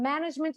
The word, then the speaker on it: management: One of the most surprising common pronunciation mistakes for me was here, working with Italians, was that people shift the stress from management into management.